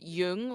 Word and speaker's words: Jung: different ways yeah they're there's uh jung like cg yoong like the psychoanalyst um he's swiss german and then it's yeah and then jung which is a korean last name sometimes they'll spell it c-h-u-n-g and pronounce a chang but it's pronounced jung your town and like